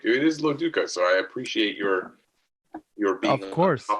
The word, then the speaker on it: Loduca: It is Loduca, so I appreciate your being of course, on top of it.